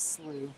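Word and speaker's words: Slough: you want to um it might be pronounced slow I'm not sure no it's slooh is it slooh is it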